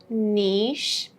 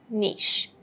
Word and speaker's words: niche: And in American pronunciation, we would mostly say niche. So, in the British version, we have a longer E than the American version. It's not niche, for instance, yeah? It's just niche.